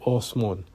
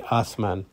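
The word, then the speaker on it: آسمان: So in Iran, they have the same words for earth and heaven, Zameen, Osman, they would pronounce it differently. They say Osman. And whereas in Pakistan, they would say Asman.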